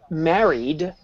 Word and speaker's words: married: I said married married it was very soft wasn't it but we know that married is a D sound now I'm going to